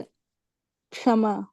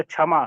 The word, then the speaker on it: क्षमा: वाले करना फिर से क्षमा हा ठीक है अक्ष अक्ष का उच्चारण आना है इसमें ठीक है एक तो हो गया क्षमा क्षमा में क् का उच्चारण है अक्षमा मतलब अ क